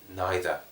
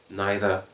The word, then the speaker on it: neither: no known of well neither neither neither two pronunciations are possible no no neither you